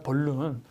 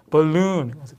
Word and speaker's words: balloon: 애드 벌룬 이러잖아. 벌룬. 근데 벌룬이 아니라 뭐라고요? balloon. 풍선.